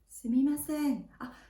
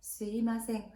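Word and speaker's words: すみません: 자, 이럴 때 스미마셍, 스미마셍, 스미마셍 이렇게 얘기를 합니다. 제가 지금 스미마셍 말고도 스이마셍이라는 발음으로 좀 다르게 얘기했잖아요. 네, 스미마셍, 스이마셍, 회화에서는 스이마셍이라는 것도 써요.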